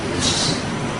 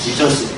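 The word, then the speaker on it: Ἰησοῦς: 그래서 예수 이렇게 원래 예수님의 이름은 정확히 헬라어로 예수스가 예수스. 그래서 이게 영어가 사실 영어가 좀 후져요. 영어는 예수스라는 발음이 안 나와요.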